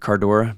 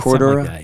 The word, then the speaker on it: Cordura: Cardora. Is that how you say it? That outer on some waiters. Cordura.